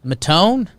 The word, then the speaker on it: Maton: Matone. Nick Phil. Maton. Nick Maton. Brother of Phil Maton on Maton. Cleveland. I struggled with it for a while. Pronounce the A.